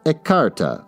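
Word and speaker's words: écarté: card let's find out pronounced aarta oh I said it wrong a card game for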